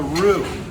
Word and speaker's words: roux: known thickeners in culinary, which is called a roux. That's spelled R-O-U-X, French word.